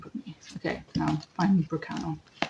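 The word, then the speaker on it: Berkano: Okay, now find Burkano. Or Burkana, as it says. There's some variations with rune pronunciation, but they're all the same runes. It's just different dialects, different times.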